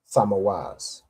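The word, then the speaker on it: Tammuz: Tamoaz, right?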